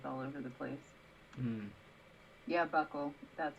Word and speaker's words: buccal: Buccal? My pronunciation is always all over the place. Yeah, buckle.